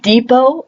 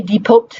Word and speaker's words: depot: We use the words depot or buffet as great examples of that. Both of those words end in a T. Do you ever pronounce the T? Do you say depot or buffet?